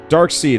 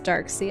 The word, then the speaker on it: Darkseid: Darkseid had a son. I thought his name was Darkseid. Oh. It's S-E-I-D.